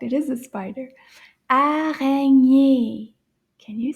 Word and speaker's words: araignée: Araignée. Can you say that one? Araignée. Let's count the syllables in this word. Araignée. Can you count? Can you clap with me? Araignée. 3. Araignée. 3 syllabes.